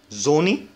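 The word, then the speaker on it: Sonne: اس ده بيتنطق زي الزد كده، فبنقول زوني زوني يعني شمس زوني.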